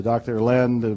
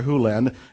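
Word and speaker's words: Hew Len: Lin's world and it's actually Doctor Who lend I burned it from E to dr. Len but it's actually dr. huland if you want to say his name correctly in Doctor Who lens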